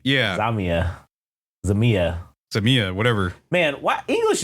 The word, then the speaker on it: XAMIYA: Dude, with all due respect, I have no fucking idea how to pronounce. It's XAMIYA.